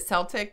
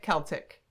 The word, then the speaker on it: Celtic: We were looking at is it Celtic, Celtic? Celtic. You can pronounce it either way.